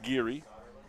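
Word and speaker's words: Giere: be number four Hunter giri spells his name g i e r e pronounced giri for Sam Chase he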